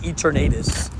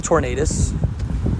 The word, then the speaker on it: Eternatus: Also, for everybody that gets angry at me saying Eternatus, people say Tornadus. So, like, you know, it's very similar in my brain. They're pronounced basically the same way.